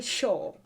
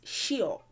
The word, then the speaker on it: ṣíọ̀: what it originally is it's just the pronunciation that they did not get so they would say sure sure but it's shio and i i've done